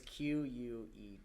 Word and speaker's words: Queta: It's Queta.